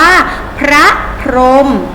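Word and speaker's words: พระพรหม: พรหม รับ พรหม เจ้า ที่ เห็น ไหม คะ นี่ หอ หีบ อยู่ หน้า พยัญชนะ ท้าย แต่ เรา ไม่ ออก เสียง หอ นะ เรา ออก ถึง ว่า พระ พอ ร็ อก มอ พรหม พระ พรหม เขียน ทอนหงส์ แต่ เวลา อ่าน ว่า พระ พรหม นะ คะ สังเกต นะ ไม่ ออก เสียง หอ หีบ แปล เวลา เขียน คำ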